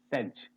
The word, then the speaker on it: says: This is sedge. Sedge. Say and z sound. Can you see this? Z sound. Says. He says it. He says it is not correct. He says it. S-A-Y-S is says.